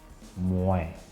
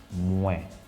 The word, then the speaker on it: Mwen: The first one is Mwen. For I, Mwen. Mwen. The M-W-E-N. How do you pronounce that?